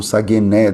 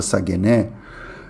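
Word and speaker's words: σαγήνη: grega ali é a palavra sagené, ou sagené, depende da sua pronúncia grega, se é erasmiana ou não. Mas essa palavra sagené não é qualquer tipo de rede.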